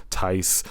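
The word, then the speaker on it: Theis: Like Tice, Lice, chicken bread with brown rice.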